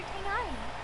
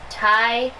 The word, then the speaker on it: Tainari: Oh, this is my master, Forest Watcher Tainari. Tainari, that's how you say his name. All the rangers here in Grand Arbor, though. That's how you say his name. His name is Tainari.